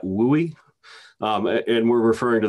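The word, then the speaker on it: WUI: seen this term before w-u-i that we pronounce that we um and we're referring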